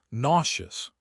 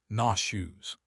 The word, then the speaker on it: nauseous: Today in modern English, 99 of native speakers use nauseous pronounced NAW shoes to mean feeling sick. If you say I feel nauseous, nobody will think you are calling yourself disgusting. They will hand you a bucket. So don't worry about that old rule. Just focus on the pronunciation. It sounds like the word shoe in the middle.